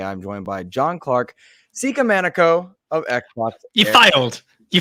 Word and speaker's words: Sikamaniko: They pronounce it Sikamaniko. So Sikamaniko.